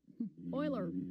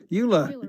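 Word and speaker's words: Euler: Oiler. Oiler. It's Oiler. Sorry, I couldn't help it.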